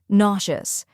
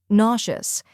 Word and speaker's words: nauseous: down first we have na which rhymes with saw or law next is shuz which